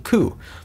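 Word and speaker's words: 九: The number 9 and the word pain also share pronunciation ku.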